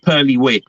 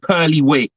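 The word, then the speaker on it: Purley Way: outside of London called Pearly Way. So that's Really? how I'm going to. Yeah, yeah. But it's not spelled pearl. It's spelled like Purley. So it's called Pearly Way.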